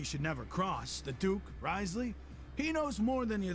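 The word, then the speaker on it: Wriothesley: Risley. Still blows my mind that they just skip 4 letters completely. The O-T-H-E. And it's just Risley.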